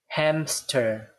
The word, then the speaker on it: hamster: However, when we actually pronounce this word, we have a P sound here. Hamster, hamster, right? So somehow when we do the pronunciation, there's a P sound. But in your mind, this P sound does not exist.